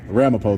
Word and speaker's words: Ramapo: Yeah, Ramipo though is how you say it.